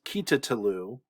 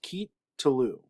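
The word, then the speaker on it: קִטְלוּ: of these two so this would be pronounced keep talu kit tulu not kita talu but just keep tulu this is the additional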